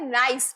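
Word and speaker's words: gneiss: Next is नाइस, इसका pronunciation होता है नाइस, ठीक है।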